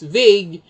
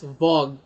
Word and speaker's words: vague: learned sorry that the pronoun that the correct pronunciation is vague she no longer speak or pronounce it as vog until finally she forgot about using the word